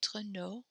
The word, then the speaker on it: nos: Our, notre, nos. Your, plural or formal, votre, vos. So we do not pronounce the s's here.